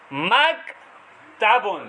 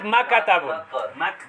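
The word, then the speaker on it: مكتب: maktabun. Not makatabun. Then it will become qaf.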